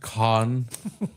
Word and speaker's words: Cannes: It's pronounced con. Cans are what food comes in.